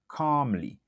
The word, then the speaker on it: calm: The problem should be discussed calmly. Calmly, ou pa répéter, ou pa prononcer L lan. OK? Nan calm, ou pa prononcer L lan, ou juste dit calm.